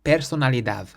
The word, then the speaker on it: personalidad: If a word ends in a letter that isn't a vowel, an S or an N, you emphasize the final syllable instead. For example, the word for personality is personalidad. Personalidad. So the final syllable is the dav. So we stress that part.